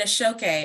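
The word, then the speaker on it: Aṣọ Òkè: the name of that show that I I butchered please aoke uh there's an exhibition in a shoke um uh prestigious cloth from Nigeria that will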